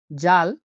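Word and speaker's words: ذال: জাল, জাল হলো উচ্চারণ হয় জ এর মতো।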